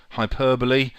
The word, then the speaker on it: hyperbole: A alliteration, Hyperbole, which means overexaggeration. Notice it's spent spelled hyperbol but pronounced hyperbole.